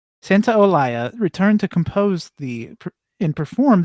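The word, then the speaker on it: Santaolalla: Santa Olaya. Santa Olaya returned to compose and perform the game score like he did with the first game.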